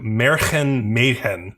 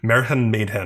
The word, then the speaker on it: Märchen Mädchen: So this is called, I think it's pronounced like Märchen Mädchen or Märchen Mädchen, or it looks like Märchen Mädchen. That's a German pronunciation.